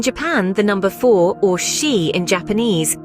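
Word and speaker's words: 四: the number four or she in Japanese shares the same pronunciation as the word for death as a result it's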